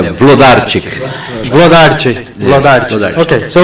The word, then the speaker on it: Wlodarczyk: ok. Eu sou o. Não é bem, mas é Vlodarczyk.